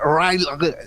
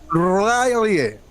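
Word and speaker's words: R'lyeh: Y la ciudad hundida de Rayleigh, así se pronuncia. ¿Escucharon bien? ¿Escucharon bien, no? Es como que se te mete una mosca en la boca así.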